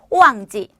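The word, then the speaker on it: 旺季: 자, 발음은 오왕지, 발음은 오왕지 하시면 됩니다.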